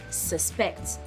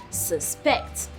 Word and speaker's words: suspect: the first syllable as suspect. But as a verb, it has the emphasis on the second syllable as suspect.